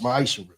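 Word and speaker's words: מעשר: Means 10th in Hebrew and is pronounced ma'ishra.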